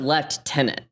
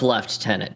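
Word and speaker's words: lieutenant: but you pronounce it left tenant I have to type left tenant so that I remember to pronounce it right the Canadian rank of left tenant to be clear please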